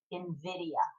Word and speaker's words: Nvidia: it's actually spelled NV D IE but it's pronounced Invidia I looked it up to myself I how to pronounce it Nvidia uh doesn't look like there's any other responses